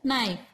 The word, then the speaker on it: knife: So we write here knife. K-N-I-F-E. Which is the silent letter here? Yes, K is silent.